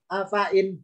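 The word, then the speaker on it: أفإين: Afain. Jadi i langsung meloncat nun. Afain. Karena ya-nya nggak ada harakatnya, jangan dibaca di seret panjang.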